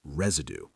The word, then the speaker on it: residue: The word is residue. Listen to the middle sound there. It's spelled with an S, but it sounds like a Z.